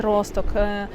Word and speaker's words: Росток: місті Росток пам'ятаємо що правильно вимовляти Росток наголос на першому складі це місцева регата сюди